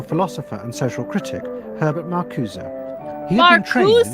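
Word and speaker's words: Marcuse: Marusa that's not the way you spell it but that's the way it's being pronounced.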